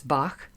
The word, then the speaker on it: Bach: So, you know, sometimes we say it like bach. I don't always go bach. It's bach. Just a little soft there.